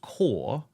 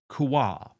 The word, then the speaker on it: Kaur: It's just Kaur, not Kuar.